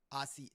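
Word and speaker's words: açaí: Acai. No, it's acai bowl. That's what it's called.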